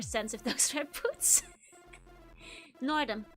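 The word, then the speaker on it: Nordom: Nordum. It rhymes with boredom.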